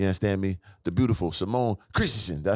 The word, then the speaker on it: Christensen: Simone Christensen.